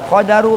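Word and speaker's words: قَدَر: Wal qadaru bil fathi, lafaz qadar itu bil fathi dengan patah. Patah itu jabar. La ghairu, tidak kecuali dengan apa? Patah. Tidak selain patah. Jadi bacanya apa? Qadar.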